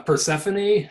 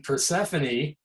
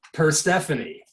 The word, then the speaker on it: Persephone: should name the moon persephone and then mispronounce it just like jim christie did i pronounce it per stephanie uh but so that's